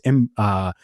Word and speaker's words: Mbow: I think Marcus Imbow, let me figure out how to say his name because I do think that he's a name to know out of Purdue. And, Marcus Bow. It's literally like bow and arrow.